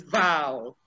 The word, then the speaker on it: vowel: i heard you yesterday one person was saying vol well well no it is val say it after me